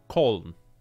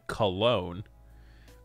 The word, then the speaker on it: Köln: I'm going to attempt to pronounce this how it's quote-unquote supposed to be pronounced, and not necessarily the American English way. We were in Köln for a couple hours. The American English speaking population calls it Cologne.